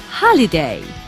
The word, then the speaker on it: holiday: We don't say holiday, we say holiday.